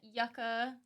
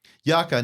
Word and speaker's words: yucca: So it's a Mexican yucca tree. Yucca, not yucca. Yucca. I was like making sure I said that right.